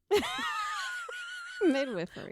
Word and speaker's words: midwifery: It's not midwifeifery. Sorry, I just heard whiff. Midwiffery. What's wrong with me? Google the pronunciation. We're going to listen to a robot say it. Midwifeery. Really? I've always midwifeery. Okay. Midwifery. Midwifery. It's midwiffery.